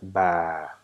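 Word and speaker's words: باء: with the sound so the second letter of Arabic consonant is ba it's not bad or it's not ba it's ba so how do we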